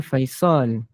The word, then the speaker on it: Faisal: kalau Bonda kata Faizal Faizal tak ada nama dalam bahasa bahasa Arab Tak ada eh hmm dia Betulnya Faisal ah okey kita Katakanlah